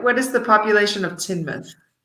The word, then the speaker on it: Teignmouth: Which is spelt in the most, in the silliest way. I would imagine that mouth is part of it. Yeah. And it's pronounced Teignmouth? Teignmouth, yeah. Teignmouth. That's cool. Teignmouth. It's strange. Yeah. But the river is the River Teign.